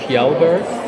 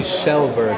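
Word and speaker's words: Kjellberg: PewDiePie's last name everybody says it's kelberg but it's actually shellberg I learned so KJ in Dutch is a sh very Norwegian okay noran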